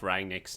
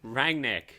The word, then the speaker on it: Rangnick: nick is that it rang nick regnig okay just call it's not it's said exactly how it's spelled oh good jesus christ